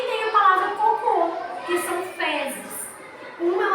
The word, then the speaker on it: cocô: E tenho a palavra cocô, que são fezes.